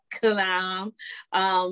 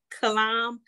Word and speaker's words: Killiam: I do know that if you're on Facebook, you can, do a quick search for Malik Kalam, and that's spelled like Kill I Am, like KILLIAM.